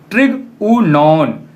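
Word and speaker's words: τρίγωνον: तब पहला जो वर्ड है उसका प्रोनाउंसिएशन हम लोग करते हैं ट्रिगुनॉन, जिसका मीनिंग होता है ट्रायंगल।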